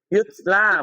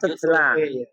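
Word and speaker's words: يُتْلَى: Yutla, bukan tutla.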